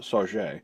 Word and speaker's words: Sauget: Sauget is actually pronounced Sauget.